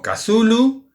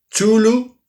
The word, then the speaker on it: Cthulhu: pero lo intentamos entonces después de pronunciar como cazulo otras personas personas dicen chulo incluso abreviando se suele decir dzul noh entonces la forma ortodoxa